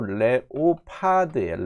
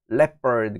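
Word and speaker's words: leopard: 랩퍼부터 처리를 해보시죠 철자로 레오파드의 레오파드 레오파드 레오파드 레퍼드 레오파드라고 읽으면 이게 발음이 안들립니다 레오파드 하는데 leferd 그러면 뭔 소린지 몰라요 평소에도 레퍼레드라고 알고 계셔야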